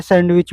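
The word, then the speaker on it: sandwich: answer C हो जाएगा जो डी है सैंडविच में वह डी साइलेंट रहता है क्वेश्चन संख्या क्वेश्चन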